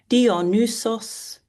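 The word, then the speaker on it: Dionysus: Dionius, god of wine. Dionus. Dionus.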